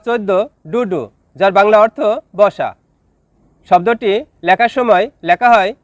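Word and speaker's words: besok: শব্দটি লেখার ক্ষেত্রে লিখতে হয় বেসোক, তবে এর সঠিক উচ্চারণ হবে বেসো।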